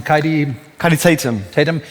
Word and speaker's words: Kaidi Tatham: How do you pronounce him? Kaidi Tatum.